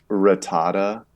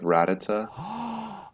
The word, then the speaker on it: Rattata: I have a friend who says ratata instead of Rattata oh my god that's